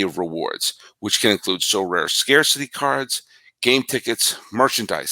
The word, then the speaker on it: Sorare: win a variety of rewards, which can include So Rare scarcity cards, game tickets, merchandise, signed jersey, and VIP experiences like meeting stars.